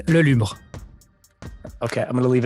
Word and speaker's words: Lelubre: if you wouldn't mind yeah so um even in french i've i have a hard time pronouncing it uh it's le lumre okay i'm going to